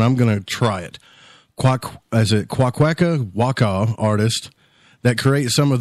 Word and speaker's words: Kwakwaka'wakw: I know I butchered it to death. Hi, thank you for inviting me on your show. It's Kwakwaka'wakw.